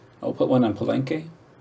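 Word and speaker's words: Palenque: I'll put one on penke, which by the way, that's how you pronounce it. Oh, it says the guy who speaks fluent or fluentish Spanish, right? Pelenke. It's not palenke. Penke.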